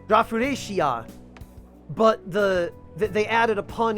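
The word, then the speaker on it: ラフレシア: So it's Rafflesia shop, if you translate it literally, but it's a pun on the name Rafflesia that is pronounced Rafflesia in Japanese, Rafuresia.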